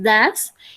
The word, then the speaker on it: does: Entonces, cuando se utiliza does o das, la forma en la que se pronuncia es das, es cuando es tercera persona, ¿listo?